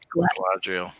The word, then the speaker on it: Galadriel: And how do you pronounce her name? Galadriel. Galadriel.